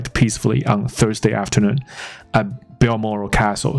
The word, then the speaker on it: Balmoral: Moral 我念得出来， BAL 不太确定它是念成 Bal 还是 Ball，所以总之我刚才确认了一下下，CNN 的主播报道是 Balmoral Castle， fine， her estate in